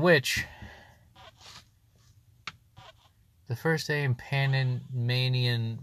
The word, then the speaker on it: Panamanian: Speaking of which, the first day in Panamanian rhymes with bad. Oh, the Rattata sucks. The first A in bad. Rhymes with the A in bad.